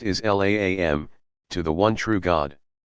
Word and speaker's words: Islam: the root meaning of the Arabic word Islam pronounced is laam to the one true